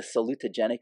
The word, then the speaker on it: salutogenic: Okay, salute, think salute. Okay, so just remind me, your daughter's going to the military, think salute. It's like 5 syllables.